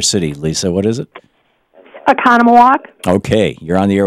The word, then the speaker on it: Oconomowoc: remarkable Lisa in Wisconsin was nwcpt I can't pronounce the name of your city Lisa what is it Oconomowoc okay you're on the air with Bobby hi